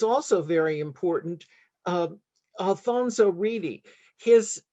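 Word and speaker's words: Reidy: very important um alfonso reedy his name comes from england actually but in brazilian portuguese his last name is pronounced edgy which is you would never guess as an american but uh he was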